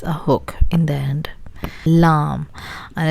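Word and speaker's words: لام: Now we can go to our next one, which is lam. Lam, like llama or something. It has a similar sound as the English word L.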